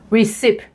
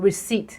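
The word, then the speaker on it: receipt: ออก เสียง ผิด receive resep นั่น คือ การ ออก เสียง ผิด เพราะ ว่า มัน ลง ด้วย P ที่ จริง แล้ว ต้อง ออก เสียง reat reat P หาย ไป เลย และ คำ สุด ท้าย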